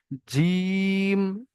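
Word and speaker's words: ج: জিভের মাঝখান আর তার বরাবর উপরের তালুর সঙ্গে লাগিয়ে একদম পুরো চেপে উচ্চারণ হবে। জিম, শিন, ইয়া।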